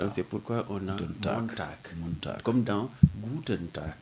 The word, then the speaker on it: Montag: Le G final se prononce comme un K. C'est ça. Donc, c'est pourquoi on a Montag.